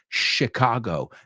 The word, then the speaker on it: Chicago: Fijaos que la CH en inglés es SH, Michigan, Chicago, Michigan, Illinois, no es Illinois, Arkansas son los que suelo oír pronunciados mal.